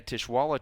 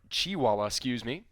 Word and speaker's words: Chiwala: Nevaeh Tishwala checked in to the game. Nevaeh Chiwala, Get that pronunciation correct for her.